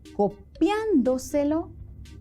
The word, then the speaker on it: copiándoselo: Claro, en copiándolo, la sílaba acentuada es la antepenúltima y en copiándoselo, la sílaba acentuada es la trasantepenúltima.